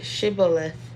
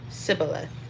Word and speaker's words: Shibboleth: If he said no, then they would say to him, "Then say Shibboleth," and he would say Sibboleth, for he could not pronounce it right.